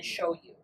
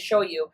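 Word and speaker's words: shoyu: I'm getting the first two like the pronunciation. It's sh hio is the first one. And then show you is s h o yu.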